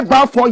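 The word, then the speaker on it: Baffour: Osei Bafo Yaw Akoto. Find me his photograph. Osei Bafo Yaw Akoto. Bafo is spelled B-A-F-F-O-U-R.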